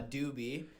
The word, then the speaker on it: Dubee3: there you go and you pronounce the three as an e like you know it's like Deadmau5 dead mouse yeah talk to me